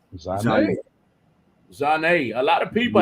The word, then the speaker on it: Zhane: Zhane, so Zhane. So a quick and easy way to remember that is the R&B soul group from the 90s. Zane.